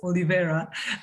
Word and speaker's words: Olivera: just one thing uh pronunciation of my name it's oliveira i really appreciate it